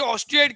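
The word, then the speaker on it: osteoid: Matrix is is called ऑस्टियोइड। उसको ऑस्टियोइड कहते हैं। देखो ऑस्टियोइड स्पेलिंग है ओ टी ओ एस टी ई ओ आई D spelling है ओ एस टी ई ओ आई डी ऑस्टियोइड। इसे ऑस्टाइड कहा जाता है।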